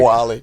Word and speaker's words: Wale: Welty for saying Wale like Wally. The dunks, right? Which obviously Wally. Sorry, Wally. Wally. Yeah, Like the movie, right?